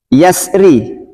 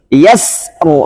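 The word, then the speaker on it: يسر: Bacanya di sini yasru, bukan yasr. Sini bukan kola-kola. Yasru, yasru, yasru, yasru. Kemudian tipis, yasr, yasr, yasr. Beda.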